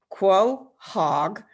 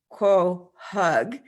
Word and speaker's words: quahog: me for a second according to the dictionary it's quo hog quo hug it's ko hog ko hug and i've heard it